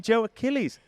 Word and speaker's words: Joe Achilles: And um and my my and Joe Achilles. Achilles. I met someone Achilles. You know that Joe Achilles? I'm like, who? Oh, you mean Joe Achilles?